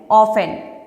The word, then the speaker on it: often: OFTEN, ऑफन, प्राय या फिर अक्सर।